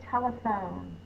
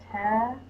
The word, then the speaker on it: telephone: The L goes here because we need a closed syllable because the vowel is short. Is the schwa sound. It's the upside down E. It says It can be represented with any vowel in an unstressed syllable. So this one is an E. Telephone is PH. O, silent E. The silent E makes the O say the long sound.